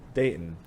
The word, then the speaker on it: Dayton: going to say of dayton what is it dayton so there's no t sound dating no there's no you're supposed to say it really fast there's no o sound dayton like your date and my sister like